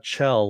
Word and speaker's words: Chell: I'm thinking that okay it's pronounced Chell like chill okay got it Chell